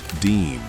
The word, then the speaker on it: disme: It is a 1792 half-dime, pronounced Disme.